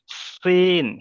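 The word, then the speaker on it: سين: খালি আছে, এটা হলো সিন। সিন মানে এই সিনের আওয়াজটা হবে সিটির মতো, সিটির মতো আওয়াজ হবে। সিন, সিন। আর এটার আওয়াজ হবে শিন, শিন। দুটার কিন্তু আওয়াজ আলাদা, ঠিক আছে? দুটোর উচ্চারণ আলাদা।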